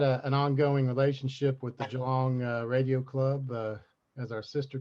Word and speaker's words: Geelong: from is geelong or geelong how do you pronounce it geelong sorry a bit slow on the uh a